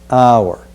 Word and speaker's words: hour: now the first word say our hour the same pronunciation as if we were pronouncing h o u r our we encounter often again